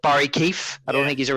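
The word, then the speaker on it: Barrie Keeffe: I'm like, oh, they just say Barry Keefe too, so I guess we could just spell my last name different if we want.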